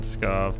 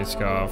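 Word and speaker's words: Pskov: I'm probably pronouncing that wrong, but I'm going to say Skov from now on because I think the P is silent.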